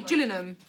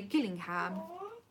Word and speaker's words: Gillingham: we are mm-hmm but if you come from there you say Dillingham its spell G i double-l i ng h8m and some people say Gillingham and if you live in Gillian it's that's not how you say it Joanne somebody else said